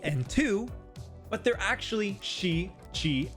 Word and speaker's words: tsu: You'll notice that normally they should be C, T, and Tsu, but they're actually Shi, Chi, and Tsu. Tsu as in tsunami.